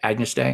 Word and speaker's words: Agnus Dei: I did pronounce that right? Agnus Dei.